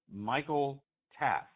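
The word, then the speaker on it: Michael Taaffe: to his name so I know how to pronounce it correctly guys Michael Taff okay Michael Taff Michael Taff gets the ball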